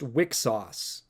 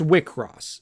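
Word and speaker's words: Wixoss: I always thought it was pronounced Wixos. like weak sauce, but no, it's Wickross.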